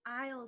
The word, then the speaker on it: aisle: say I'll take the aisle seat I'll take the aisle seat the next one is